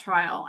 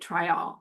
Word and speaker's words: Tryall: Thank you for asking me about Tryall, and I I just want to say that I love that you pronounced it Tryall, because that's how the Jamaicans pronounce it.